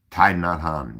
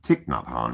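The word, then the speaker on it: Thích Nhất Hạnh: us have learned from a great teacher named Tai Nadhan even though in the west it's pronounced Tiknadhan.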